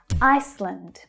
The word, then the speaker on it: Iceland: Iceland, Iceland. So that's the first syllable that's stressed. I as in by or my. Ice. The next syllable is unstressed. Land. You hear the schwa sound.